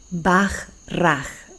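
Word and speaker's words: Bachrach: preguntar en comentarios Stanislao baj raj se pronuncia pero se escribe Bach ch rat ágilmente es uno de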